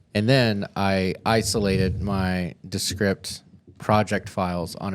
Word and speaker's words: Descript: the nice thing is I'm also using descript as or descript I always say it wrong everybody else says descript but I use that